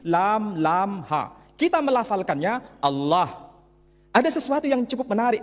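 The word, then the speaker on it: الله: Tidak ada seorang pun di kalangan masyarakat Timur Tengah ketika menjumpai istilah Alif, Lam, Lam, Ha dibaca Allah. Tetapi mereka serempak menyebutnya dengan pronunciation Allah.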